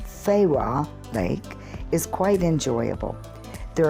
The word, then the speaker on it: Fewa: the price of a delicious traditional meal fooey lake actually pronounced Farah Lake is quite enjoyable there are paddle boats